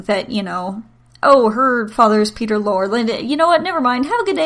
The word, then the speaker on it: Lorre: I'm not exactly sure how to pronounce it. It's Lorre.